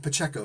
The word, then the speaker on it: Pacheco: Quoting Carla Pacheco on that. Pacheco, excuse me, just butchered her name. See that? But she had the sense to actually tell me how to pronounce her name.